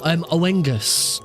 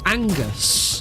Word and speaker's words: Angus: Oh, Owengus. Sorry, Angus. Not Owenga. I've been calling it Owengus for ages, but I checked it out and it's pronounced Angus.